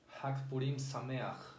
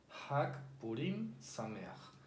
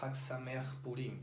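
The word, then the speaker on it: חג פורים שמח: Hag Purim Sameach. No se dice Hag Sameach Purim, porque hay algunas personas que, bueno, sí están aprendiendo hebreo, pero a veces cometen ese error.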